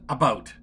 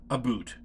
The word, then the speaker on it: about: French not American and I pronounce it about not a boot I could proudly sew